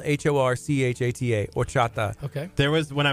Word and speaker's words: horchata: next time you go to a Mexican restaurant it's spelled hor CH a TA or chata okay there was when I was a school